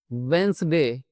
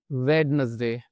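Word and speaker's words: Wednesday: यहां पर भी हमारा डी जो है वह साइलेंट था। तो इसको हम पढ़ते हैं वेडनेसडे ना कि वेडनेसडे।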